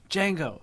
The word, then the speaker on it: Django: Django. He goes, "How do you spell it?" DJANGO. The D is silent.